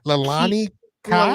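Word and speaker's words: Leilani Kai: Wendy Richter versus I don't know how to pronounce her last name. Oh, Her name Lalani Kai.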